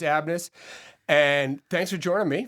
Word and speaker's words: ABMNUS: How is it pronounced? Company is called Abnes. Abnes. It's that it's that extra N in the middle that just screws me up. But we're just it's Abnes and thanks for joining me first of all.